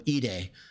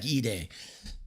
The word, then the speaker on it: Edey: He doesn't know how to pronounce Zach Edey. He called him Edey over and over and over. Zach Edey.